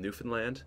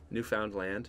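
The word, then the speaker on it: Newfoundland: ever heard of a place called newfinland New Found land in Canada New Foundland I've heard of yeah it's called newfinland but it looks like New Foundland anyways they talk like we say how it's spelled over here yeah yeah it's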